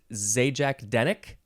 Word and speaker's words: Zajac-Denek: you said it's polish is it Z Jack denck nailed it nailed it yes okay ZJ